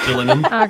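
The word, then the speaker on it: Gillingham: a crumb um jillum you're gonna kick yourselves because this is jillian this is just killing him sorry dorset all right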